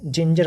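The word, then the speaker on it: ginger: जैसे एग्जांपल देखते हैं, जिंजर, इसको हम गिंगर नहीं पढ़ेंगे, जिंजर पढ़ेंगे।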